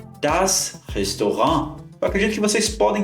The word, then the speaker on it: Restaurant: uma razão para isso a palavra Restaurant vem do francês por isso que a gente pronuncia dessa forma também no alemão e o segundo local